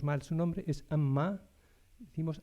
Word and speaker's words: Amma: A mi maestra, Amma, a veces pronunciamos mal su nombre, es Amma, decimos Amma, y eso significa tortuga.